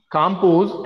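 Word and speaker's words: Calmpose: ठीक है and these are the brands for this diazepam that is कॉम्पोज एंड सीडेनाइट कॉम्पोज L silent है कॉम्पोज एंड सीडेनाइट.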